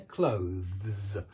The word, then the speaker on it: clothes: Yeah, clothes. That's the way it should be done. And the way you can tell that you're doing it correctly is your teeth bite on your tongue. Clothes. And this is a voiced TH, which means you do a V and not just a th, but a V.